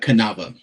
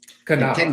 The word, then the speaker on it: Canava: Uh Canova. Canova.